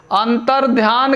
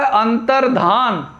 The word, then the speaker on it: अंतर्धान: अंतर ध्यान के बजाय जो है क्या होता है? अंतर्धान। इस तरीके से इसको पढ़ेंगे। चिन्ह पढ़ते हैं, ये लिखा भी जाता है गलत और उच्चारण भी इसका गलत होता है।